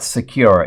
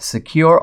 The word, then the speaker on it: Sekur: I want to tell you about Secure. It's spelled S-E-K-U-R. Secure offers secure instant messaging and email hosted in